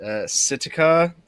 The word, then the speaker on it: Sitka: So, in the spirit of April Fool's Day, this man in Alaska, in Sitka, I believe it's pronounced, Alaska.